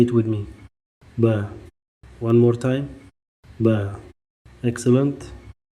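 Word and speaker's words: باء: The Arabic letter ba b makes the b sound just like the b in book, ball, baby.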